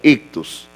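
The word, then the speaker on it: ἰχθύς: Ok, la palabra pez, hermanos, bueno, es esta que está acá en griego, así se pronuncia, ictus, significa pez.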